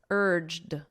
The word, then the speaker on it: urged: in the past simple listen to my pronunciation urged so it ends on a very soft D sound let me write that